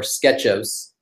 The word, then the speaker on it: Sketchos: have launched customer-wide our Sketchos. Nobody knew how to pronounce that. It was always like SketchOS, SketchOS. We're calling it Sketchos, our sketch ordering service.